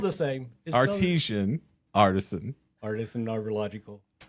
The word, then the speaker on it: Artisan Arborlogical: It looks like artesian. It's spelled the same. Okay. Maybe that's why it's throwing me off. So say it for us real quick. Artisan Arborlogical. That. The logical choice.